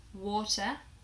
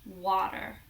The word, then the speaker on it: water: We use the or sound in words like water. However, in America, they pronounce it very differently. They pronounce it like water. I'm gonna go drink some water. So if you can hear British English, water, American English, water.